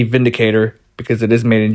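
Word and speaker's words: Windicator: Now, I know it's spelled with a W, but it's pronounced with the V, Vindicator, because it is made in Germany.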